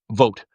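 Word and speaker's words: Vought: With Russell Vote, right? It's actually pronounced vote.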